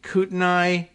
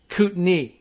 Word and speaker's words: Kootenai: be kootenai county but it's in fact uh kootenay i don't know why and a i gets pronounced knee but that's just one of those things and they kind of swallow that syllable in the middle so it's kind of like kootenay there's a little hitch to it but they they swallow that so like cute knee that you have there